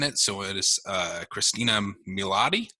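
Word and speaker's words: Christina Milian: so it is uh christina milatti that's how you pronounce it the mom from how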